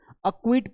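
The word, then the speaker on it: acquit: पहले आ गया ना सी, तो इसका कोई साउंड नहीं निकलेगा, अक्विट पढ़ना है, अ और ये क्विट हो गया, अक्विट हो गया।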